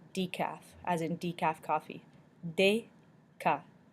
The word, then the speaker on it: déca: E with an accent aigu and ET make the sound A in English. A. Déca means decaf, as in decaf coffee. Déca.